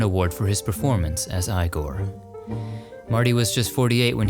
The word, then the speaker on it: Igor: his hunchbacked sidekick Igor now it's pronounced igore Marty suffered from thyroid